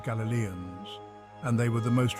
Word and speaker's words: Galilean: community kumran was destroyed in 68 ad galileon pronounced Galilean Galilee is a region located in Northern Israel